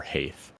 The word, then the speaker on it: heath: bring water to the heath, or Haith. I'm never sure how to pronounce this. It's spelled Hath, like with the AE. A. So Haith. Yeah, Haith. That looks right. That sounds right.